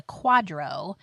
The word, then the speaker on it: QDRO: a 401k plan will need something called a Quadro in order to split it Quadro is spelled qdro o and it stands for qualified